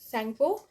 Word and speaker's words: सैंगपो: ठीक है, और इसका नाम तिब्बत में है सैंगपो, टी साइलेंट है, सैंगपो।